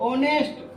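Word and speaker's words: honest: अब इसके नजदीक ऑनेस्ट ओ का उच्चारण हो रहा है तो एन।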